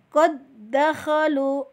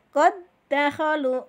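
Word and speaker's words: قد دخلوا: Contoh yang dal ini ya, qad dakhalu. Nah, qad dakhalu tulisannya yang ada 2 dal, yang satu dalnya mati, yang satu bertasjid. Maka dal yang pertama kita leburkan, kita tidak anggap ya,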